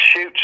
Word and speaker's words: Chutes: And its Shoots is spelled Chutes.